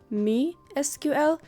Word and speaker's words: MySQL: Fun fact, it's actually me SQL because my is actually a name and the name is pronounced me.